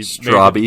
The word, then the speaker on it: Straubby: No offense, Ryan, but yes, it is a little weird that you pronounce the E at the end of your name.